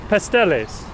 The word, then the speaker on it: pasteles: So it's pasteles.